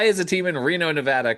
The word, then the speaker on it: Nevada: Nevada, Nevada. You got it. Why is a team in Reno, Nevada called the Aces?